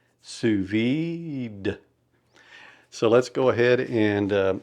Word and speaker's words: sous vide: And you are from what I understand make that D suvid.